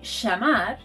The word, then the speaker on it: llamar: You should know, however, that in Argentina and Uruguay, this sound is pronounced sh. So they'll say llamar and llegar.